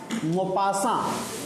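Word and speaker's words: Maupassant: मोपासा नाम से clear है, स्पेलिंग अलग है, प्रोनाउंसिएशन अलग है. This person belongs to France I think. एक बार सर्च कर लेना गूगल पर. तो इसलिए इन लोगों के नाम की स्पेलिंग कुछ और रहती है, पढ़ते कुछ और हैं.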